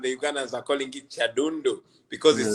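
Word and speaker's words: Kyadondo: That No, the name is Chadondo, but you yeah, pronounce it in a very interesting way.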